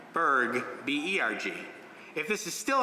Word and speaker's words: Burg: to clarify for people the family name Berg is pronounced the same in English whether you spell it b-u-r-g or b-e-r-g but in Hebrew I